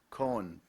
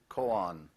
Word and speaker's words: koan: l o g y eulogy that is correct Cohen also pronounced koan the most widely known koan is the question